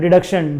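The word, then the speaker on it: deduction: ये क्या है standard डिडक्शन डीई डी यू सी टी आई ओ एन बाकी चीजें साइलेंट है हां जी 50000 सेक्शन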